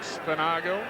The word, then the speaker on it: Spinagle: Very disappointing from Michael Spinagle, I think is the correct pronunciation now, after we were very much corrected by his girlfriend, who made her way to the box to correct the pronunciation.